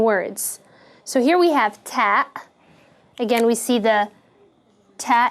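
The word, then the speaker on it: تاء: alphabet and it is pronounced like the frontal t sound in english like ta as in teeth so this is the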